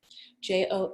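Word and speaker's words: Joanie Dhillon: First of all, connect with me on the Instagram at JoanieDhillon, JoanieDhillon, silent H. I don't know when my parents decided that. Somehow it got stuck there. So silent H in my name, and connect with me there.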